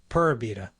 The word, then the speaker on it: Pura Vida: And by the way, Tico's pronounced V as B, so Pura Vida.